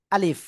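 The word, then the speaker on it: ألف: আমার আ লিফ আলিফ এ অক্ষরে কোন টান হবে না। তো এই অক্ষরটা প্রথমে বলার সময় আ একটু শক্ত আওয়াজ হবে। তারপরে লি তারপরে শেষে ফ আসবে।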